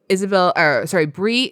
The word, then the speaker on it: Breagh: It's Brie Isabel, and Brie is from Halifax, and you spell that Breagh Okay.